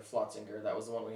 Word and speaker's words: Flotzinger: from flotsinger i'm sorry i did pronounce that brewery wrong not schlossinger flotzinger that was the one